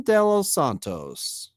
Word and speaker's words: de los Santos: And then the only other one that I thought was kind of interesting from the Rule 5 is, I'm going to pronounce it incorrectly, Davison de los Santos.